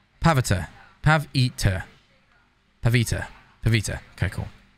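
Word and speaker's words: Pavitr: Yeah, no, I people are typing it the way it's spelled, but do it phonetically. Pav-itir. Pavita.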